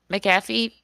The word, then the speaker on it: McAfee: say this guy's name Mac uh fee McAfee oh my God oh my God like like the Internet Security people no no you're right just believe in yourself foreign I love the